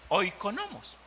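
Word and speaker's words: οἰκονόμος: Hay una palabra en el griego que es oikonomos. Oiga, oikonomos. Eso significa administrador o administradores. Se pronuncia oikonomos, que se compone de dos frases.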